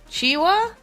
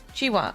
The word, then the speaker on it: Qiuhua: Just pronounce them more like chi. Okay. Chiwa then. Chiwa.